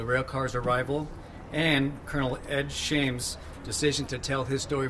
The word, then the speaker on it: Shames: And also I'd like to have Colonel Shamus, a World War II hero, come up here as well, please. Well, I'm going to say it first. Sir, the name is Shames.